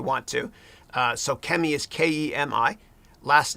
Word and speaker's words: Kemi: So Kemi is Kemi. Last name is, but it's pronounced.